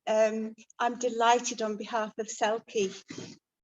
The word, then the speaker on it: CELCE: Well, like John, I'm delighted on behalf of CELCE, that's how we pronounce the Centre for Endangered Languages, Cultures and Ecosystems, to be co-host of this wonderful event.